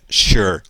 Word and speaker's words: sure: E note que o ezinho de sure, final o e, não é pronunciado, não é sure, é sure.